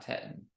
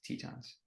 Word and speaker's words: Tetons: Grand team or Titan it's not Titan it's Tetons you can find green